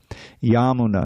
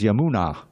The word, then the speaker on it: Yamuna: Yamuna now it's now it's the name of the river is Yamuna right with a long a at the end. But because this is of the yamuna the long a at the end becomes short and the second a becomes long. So it's yamuna.